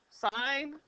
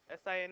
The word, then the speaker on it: sine: how you spell it s i n e just like the abbreviation which I'm going to show you here that's in that's the abbreviation for sign it's not sin okay it's the abbreviation